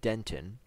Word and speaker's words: dentin: We'll be studying roots, pulp, dentin, that word is pronounced dentin, enamel, and crown.